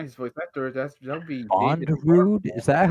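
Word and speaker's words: Bondrewd: The guy who's voice actor, that'll be Bondrude? Is that how you pronounce his name? Bondrude, yes.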